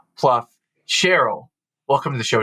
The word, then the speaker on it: Plouffe: your name uh incorrectly so officially it is Cheryl Pluff cherl welcome to the